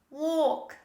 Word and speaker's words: walk: this is talk talk another similar example walk walk don't say walk this is walk the next